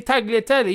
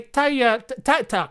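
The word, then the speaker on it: tagliatelle: italian he's it's taliafico it's like tagliatelli you don't say tagliatella you say taya tatta can't flip and even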